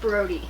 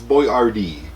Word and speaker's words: Boyardee: boyardee spaghetti and meatballs that's chef brody brody it's boy rd brody look he's right